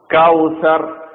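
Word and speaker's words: الكوثر: കൗസർ അദ്വൈന കൽ കൗസർ കൗസർ സ കൗസർ എന്നല്ല കൗസർ എന്നർത്ഥം ഇന്ന അപ്പൊ ഈ ആയത്തിൽ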